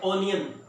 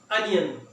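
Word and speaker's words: onion: बहुत सारी खवातीन या लोग कहते हैं ऑनियन, ये गलत प्रोनाउंसिएशन है, इसका सही तलफ्फुज क्या है, अनियन।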